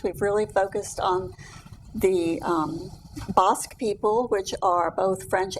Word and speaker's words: Bosque: It's pronounced Bosque, not Basque.